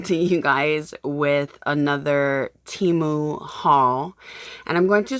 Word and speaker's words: Temu: I am coming to you guys with another Temu haul, and I'm going to start calling it Temu because apparently I've been calling it Temu and have basically been called out by many